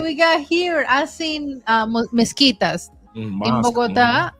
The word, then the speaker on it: mezquitas: I seen mezquitas in Mosque. Bogotá it's and mezquitas? mezquitas That's en how you pronounce español. it? Wow. Mezquitas, like you say, mosquito.